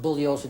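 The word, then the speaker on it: Bugliosi: my name is pronounced bullos the g is silent I've told you this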